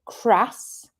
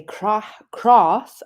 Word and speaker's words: crass: glass and grass but if we're going to say crass I don't say crass I say crass I say it like the north so that is where